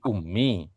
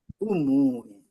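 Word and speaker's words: أمٌّ: Bacanya jadi ummi. Iya. Iya. I betul. mestinya bacanya bagaimana? Umun. Oh, umun gitu kalau satu kata.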